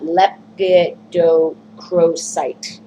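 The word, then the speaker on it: lepidocrocite: Lepidocrosite.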